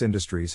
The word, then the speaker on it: industries: To pronounce industries, have in mind that the size of the syllable indicates where the accent or stress is. In this case, the accent is in the first syllable, corresponding to in.